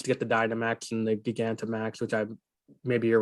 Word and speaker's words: Gigantamax: Gig Anta Max is how I would pronounce that.